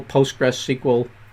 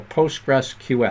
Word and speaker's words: PostgreSQL: link just just google postgresql i hate i say have a tough time with that name the proper way to say it is the postgres or postgresql all right but if you